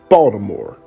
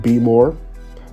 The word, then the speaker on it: Baltimore: the culture of maryland you've got baltimore i pronounce it baltimore for those who come from outside of maryland